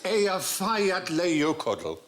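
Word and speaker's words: Eyjafjallajökull: Yeah, and I think actually the way you're supposed to pronounce it is Hutch. If only. It changes it. Apparently, it's Ea Fayat Leiokodl.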